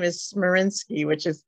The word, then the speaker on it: Smarinski: It's a tough one, is R, and then my last name is Smarinski, which is S like in Sam, M as